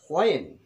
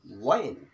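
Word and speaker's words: when: এই হোয়াটকে পরিবর্তন করে যদি আমি এখানে হোয়েন, আসলে উচ্চারণটা হলো ওয়াইন, ওয়াইন, আমরা হোয়েন বলি কিন্তু ওয়াইন, হোয়াট না হোয়াট।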